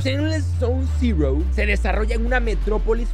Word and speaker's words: Zero: fantasía que se llama sess s cero o mejor pronunciado Zero y se puede jugar